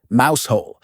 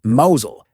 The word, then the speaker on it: Mousehole: Other head-scratchers include Us Wolfardesworthy, pronounced Woolsery, Mousehole, pronounced Mosul, and Frome, pronounced Froome.